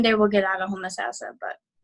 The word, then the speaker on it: Homosassa: It's Homosassa is a very, very small town.